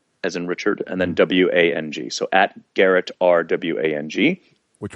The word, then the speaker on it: Wang: middle initial, R as in Richard, and then WANG. So at Garrett, RWANG. Which we know now is pronounced Wang.